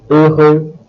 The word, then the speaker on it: heureux: In the case of the last four adjectives, haut, heureux, humain, and humide, you will note that H is silent, but although silent, it still exists.